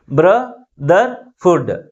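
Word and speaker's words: brotherhood: three syllabus ఉన్నాయి ఏవేవి bro there food three syllabus ఉన్నాయి అయితే ఈ త్రీ సిలబస్ లో ఏ సిలబుల్ ఎక్కువ ఫోర్స్ గా పలుకుతుంది అంటే ఫస్ట్ సిలబలే మిగిలిన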